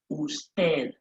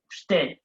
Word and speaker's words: usted: And then we have usted. Now remember, you in Spanish is pronounced as u, usted.